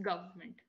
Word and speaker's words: government: So you don't have to put any stress anywhere. Just government. Government. Okay. Yeah. Good. Because even I used to try very hard to pronounce this word right. But then I realized it's not. It's not the I. You know, just don't think of the actual spelling.